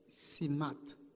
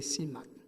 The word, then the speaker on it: CIMAT: Ça, il y aurait les, si je te c'est CIMAT, ou encore CIMA, c'est même semble c'est plus un acronyme lié, il faut prononcer tout, c'est CIMAT.